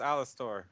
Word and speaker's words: Alastor: It's pronounced Alastor.